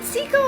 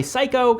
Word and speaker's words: Seiko: We talk about the Seiko modding community, but are they psycho? I mean, maybe some of us are a little psycho that like Seiko, but it's pronounced Seiko though.